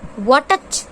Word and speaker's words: watch: Watch. No, this is not watch. It is watch. T का sound हमने किया ही नहीं है. Means here which word is silent? T is silent.